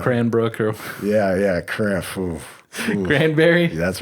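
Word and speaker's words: Cranbury: they go cranberries there it's not actually spelled that way it's a berry like danbury connecticut so it's actually cranberry you know but you pronounce it cranberry why did we even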